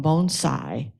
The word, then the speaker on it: bonsai: a moment but um Bonsai is a Japanese word that can be translated several ways including tree plantings and and and American English is sort of pronounced as Bon Sai bonsai and it's the